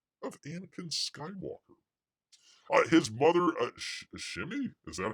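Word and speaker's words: Shmi: His mother, Shimmy? Is that how you pronounce it?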